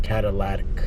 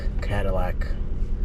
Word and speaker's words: catalytic: old Cadillac converter and it's not catalytic Cadillac I know a lot of people say Cadillac but it's a catalytic converter I sometimes have uh